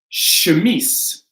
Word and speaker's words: chemise: Cachet, chemise, mustache, right? So these aren't pronounced with a CH or a K, they're an SH.